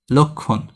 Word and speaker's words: লক্ষণ: এই ক্ষীয়টাকে ভাঙবে প্রথমে, ল আছে, তারপর ক্ষীয়কে ভাঙলে কি করতে হবে? ক লাগবে, তারপর খৌকার খো লাগবে। এরপর মূর্ধান্য আছে, সেটার উচ্চারণ কি হবে? দন্তান্ন হবে। লক্ষণ। আর ল এখানে শুরুতে কি? অধ্বনি উচ্চারিত হচ্ছে, তাহলে উচ্চারণটা কি হচ্ছে? লক্ষণ।